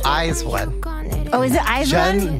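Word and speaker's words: IZ*ONE: By the way, Virginia, it's Eyes One. Oh, is it Eyes One? Jun Soyeon. I'm sorry. School us on pronunciation, Peter.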